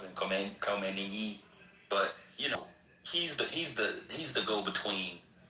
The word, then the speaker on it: Khomeini: How you pronounce it? Khomeini.